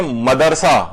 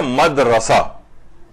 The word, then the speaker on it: مدرسہ: ہے بلکہ مصطفیٰ ہے۔ اچھا لوگ پڑھتے ہیں مدرسہ، مدرسہ نہیں، یہ ہے مدرسہ، مدرسہ، لوگ اسے مدرسہ کہتے ہیں۔ غلطی، غلطی نہیں ہے،